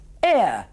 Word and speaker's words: heir: Fíjese que are tiene H, no la pronuncié, pero half... Sí, y la hice suavemente, exhalando. Heir, heir.